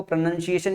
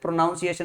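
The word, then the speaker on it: pronunciation: और यहां पे ध्यान से देखो प्रोनंसिएशन इसीलिए बोलते हैं। प्रोनाउंसिएशन नहीं बोलते।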